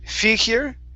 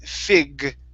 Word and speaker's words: figure: Okay, you have to pronounce that G here. So instead of figure, it's figure. Figure.